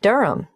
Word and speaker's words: Durham: at one uranga street durham how do you spell durham d-u-r-h-a-m of course i should know that but it's just one of those names that sounds quite different from the way you spell it it is confusing i've